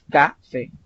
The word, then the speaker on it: café: Un ejemplo, café termina en vocal y tiene la mayor fuerza de voz al final, café. No es café, sino café.